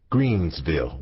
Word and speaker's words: Greenville: Greenville, but we always pronounced it Greensville with an S.